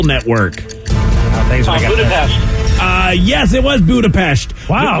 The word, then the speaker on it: Budapest: Budapest? Is that how you say it with a shush?